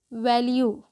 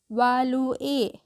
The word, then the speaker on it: value: जो पैराग्राफ है उसका टाइटल है वैल्यू। वालुए नहीं, ठीक है। वालू ए नहीं पढ़ते हैं हम, इसको क्या पढ़ते हैं, वैल्यू योरसेल्फ।